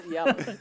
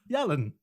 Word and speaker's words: Yalan: He's Alan with a Y, spelt with a Y, and also sounded with a Y. Yes, Yalan. Yes, Yalan.